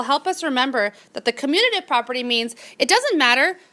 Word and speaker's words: commutative: Commutative. Okay, the word commutative sounds like the word commute, right?